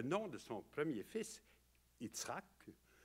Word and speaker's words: Yitzhak: Alors, et là, d'ailleurs, en hébreu, le nom de son premier fils, Yitzhak, comme on devrait le prononcer en hébreu, ça veut dire « il rit hein?